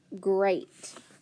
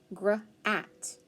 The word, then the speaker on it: great: great i have gr then a long a t so that's what i hear but look if i sound that out gr at grat that's not right great is one of those words that has e a like inst